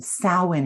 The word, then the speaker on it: Samhain: have this amazing high holy day that's called samhain and it's spelt s-a-m-h-a-i-n which when you look at it you'd never think that was salwyn right but salwin is how it's pronounced and that high holy day is also